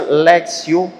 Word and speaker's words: lectio: c t i ó literalmente assim se for pron fica Le Mas você pronuncia lexio l e c t